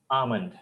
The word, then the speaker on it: almond: pronunciation is am l L is silent L is silent and I am sure the pronunciation is not almond it is almond almond all right moving